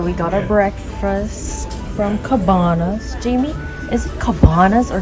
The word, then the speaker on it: cabana: got our breakfast from Cabanas Jamie is it Cabanas or Cabanas I pronounce it Cabana cabins Cabana cabana it's not Dolce it's like it's like tomato tomato yes potato potato so I got